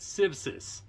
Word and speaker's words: Civsis: to mention a couple of things first the pronunciation of the name is civsis s-i-v-s-i-s and uh they wanted me to mention